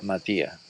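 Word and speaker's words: Motyer: Se pronuncia Matías.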